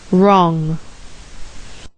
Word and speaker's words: wrong: W and R make the sound R, as in right, writ, wrong, right, writ, wrong.